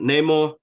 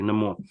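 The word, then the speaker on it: Namor: I mean talukan and Neymar Neymar and more no more let me pronounce that properly no more it was amazing because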